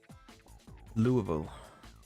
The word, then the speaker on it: Louisville: stream of me talking Louisville I was right then and at least not pronouncing the S yeah I just talk